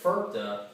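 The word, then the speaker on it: FIRPTA: on here it's actually an acronym and i pronounce it ferpta and actually this stands for for all of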